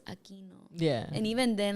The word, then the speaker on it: Aquino: It's Aquino, but every single time like I would have like, you know, white teachers be like Aquino, Aquino, like bro, it's Aquino.